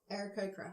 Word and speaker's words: Aarakocra: Aarakocra.